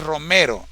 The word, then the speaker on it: Romero: e Isidro r dime se lee como está escrito o no se pronuncia la la e dice Ah Es Romero Oh perfecto Ahora sí